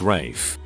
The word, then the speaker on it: Ralph: usually a jaguar culture being called ralph but pronouncing it rafe my mother while not